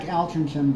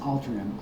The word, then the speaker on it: Altrincham: Looks like Altrincham, but it's pronounced Altrincham.